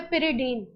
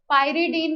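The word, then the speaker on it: pyridine: तो कंपाउंड का नाम है पिरिडीन। पायरिडीन भी कई लोग बोलते हैं, प्रोनाउंसिएशन आपके हाथ में है। पिरिडीन, मैं पिरिडीन बोलती हूँ।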